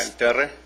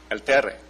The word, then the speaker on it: Terre: How to pronounce it, what it means. Yeah, El Terre. El Terre.